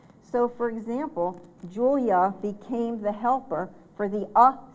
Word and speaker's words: Julia: So, for example, Julia became the helper for the sound at the end of a word. That is a very important sound. It sounds like a U, but it's represented by an A.